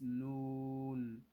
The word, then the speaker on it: نون: next letter is noon. Noon. Noon. هكذا noon. This is how to pronounce noon.